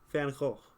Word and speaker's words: Van Gogh: Because everyone, both G's pronounced like you said the last. Oh, Van Gogh. Oh, okay. I got you. Van Gogh. Like that.